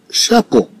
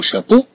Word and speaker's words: chapeau: Bien sûr, avec la prononciation du mot chapeau, on entend le son O.